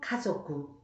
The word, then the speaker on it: 家族: 그래서 하나님의 권속, 하나님의 가족을 일본어로는 카미노 카조쿠, 카미노 카조쿠라고 말합니다. 네, 가족이라는 한자를 같이 써서 발음이 많이 비슷하죠. 가족을 카조쿠라고 합니다.